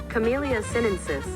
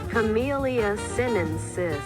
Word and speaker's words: Camellia sinensis: Let's see how this is pronounced. Camellia sinensis. Camellia sinensis.